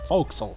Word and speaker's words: forecastle: That's how you pronounce it. Forecastle.